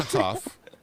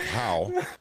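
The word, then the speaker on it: Hough: So once again, Lincoln Huff, and it looks like How, but it's pronounced Huff, Lincoln Huff.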